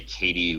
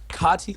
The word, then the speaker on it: Kati: he last heard it I know I've heard him say cotti around me and I've heard him say Katie when talking to someone else who's saying Katie uh you can pronounce it pretty much however you want it's you know it's a fictional character wow but if you say in front of me I'll probably correct you kotti Jones I got got